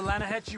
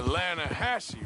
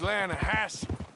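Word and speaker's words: Lannahechee: the other day i rode down to the lana hatchy river i caught some beautiful steelhead trout you mean the lanahashi river no no no no no the the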